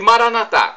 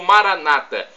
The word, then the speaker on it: Maranata: E Maranatá, como dizemos nós católicos, ou Maranata, como dizem nossos irmãos separados, os protestantes ou evangélicos. Não importa a pronúncia, é do aramaico, dialeto de Jesus, e